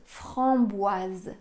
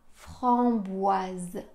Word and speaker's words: framboise: continue avec boise framboise en français le O et le i quand ils se suivent ça fait le son W W on a donc Fran bois Z à la fin c'est un son Z pourquoi parce que le s est entre deux voyelles le I et le E donc on a framboise et